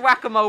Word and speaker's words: whack-a-mole: Swing, just swing and it's just whack-a-mole with rats.